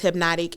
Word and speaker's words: Hypnotique: So you can follow me at DJ Miss Hypnotic, and that is spelled DJMSHYPNOTIQUE. Yes, it sounds like the liquor, but it's two different things.